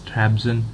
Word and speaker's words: Trabzon: I don't know, how do you pronounce that? It's Trabzon, a club called Trabzon.